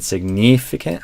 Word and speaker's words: significant: So both of these in that stressed second syllable, signif, you're doing a bit more of a E sound, and I'd say try to relax that vowel more towards an I sound.